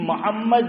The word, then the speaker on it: محمد: صحیح اس کا تلفظ جو ہے وہ کرو, اور صحیح تلفظ بھی محمد میم پہ زبر نہیں ہے, کیا ہے, میم پہ ضمہ ہے, میم پہ پیش ہے, تو پیش پڑھنا ہے.